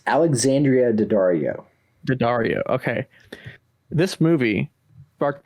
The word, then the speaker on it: Daddario: name again you said so well it's alexandria d'addario daddario okay this movie sparked that crush for